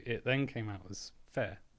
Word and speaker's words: FFAIR: So it then came out as fair with a double F pronounced V in in Welsh.